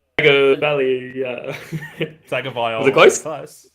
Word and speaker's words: Tagovailoa: It's Tagovailoa.